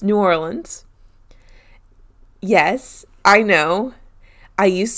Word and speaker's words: New Orleans: face and i know the locals call it like nollens or something like that why are you making a face i'll tell you later no no just say it my place was new orleans damn it okay how